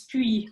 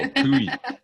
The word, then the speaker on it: Pully: So that's her center in the municipality in Switzerland called Pully. Did I pronounce that correctly? It's close enough. It's Puy, but that's all right. Okay. I learned this the hard way, Meryl, as well. Pui.